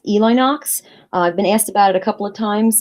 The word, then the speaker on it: Elinox: start by saying that my user name is actually pronounced Eli Knox I've been asked about